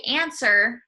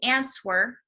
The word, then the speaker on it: answer: example the word answer a NS w e r when we say answer we do not pronounce the W the W is silent so you do not say answer you say answer so